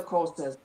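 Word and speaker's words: Xhosa: You've got the Zulus and the Courses. Courses spelled with an X and it's a sound in the in the throat.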